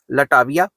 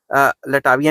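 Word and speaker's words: Latvia: In September 1991 three Baltic countries of Estonia, लटाविया एंड लटाविया नहीं लटविया, sorry pronunciation में फर्क हो गया, and Lithuania became the members of United Nations and later on they joined NATO in March 2000।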